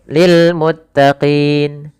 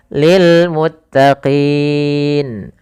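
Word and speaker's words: لِلْمُتَّقِينَ: Maka dalam bacaan mad arid lisukun ini kita boleh memanjangkan 2 harakat, boleh 4 harakat, boleh pula 6 harakat. Maka boleh lil muttaqin, muttaqin atau lil muttaqin. Boleh pula misalkan lil muttaqin 6 harakat.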